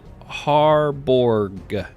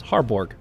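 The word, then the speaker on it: Harebourg: say it wrong uh i pronounce it har borg if that helps hardborg that that sounds pretty good awesome all right well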